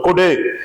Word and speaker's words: கொடு: இப்ப பாரு எக்ஸாம்பிள் கொடு என்னது கொடு ஒரு சுழி கொம்பு போட்டுருக்கேன் அப்ப குறைந்த ஓசையில சொல்லணும் கொடு அதையே நான இரட்டை சுழி கொம்பு போடுறேன் அப்ப இத நெடிலா உச்சரிப்பு கொடுத்தா கோடு என்னன்னு சொல்லணும் கோடு அப்ப ஒரு சுழி கொம்ப எப்படி